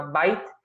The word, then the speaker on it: byte: Esta ya tiene otra pronunciación, se le llama byte, que dice que equivale a 8 bits.